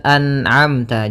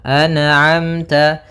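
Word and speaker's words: أَنْعَمْتَ: Maka hati-hati dalam melafalkan huruf atau bacaan an'amta jangan sampai terpantulkan. Misalkan anamta alaihim anamta memantul huruf nunnya karena sifat nun tidak boleh mantul. Maka dibaca dengan anamta anamta.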